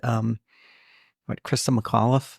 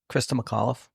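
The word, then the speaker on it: Christa McAuliffe: shuttle, and for the one that, for that to happen, for it to be the one when they had, Krista McAuliffe, the first teacher in space.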